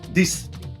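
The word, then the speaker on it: dix: with nine is nerf nerf and 10 is this this this.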